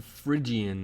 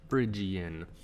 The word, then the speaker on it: Phrygian: Okay, the third mode in the sequence is the Phrygian mode, spelled with a PH, Phrygian.